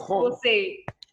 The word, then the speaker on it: Jose: Generally, we in India pronounce J as Jo. So it is Jose.